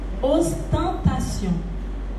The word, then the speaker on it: ostentation: Ostentation. Ostentation. Ostentation. Attends, ma prononciation c'est ostentation.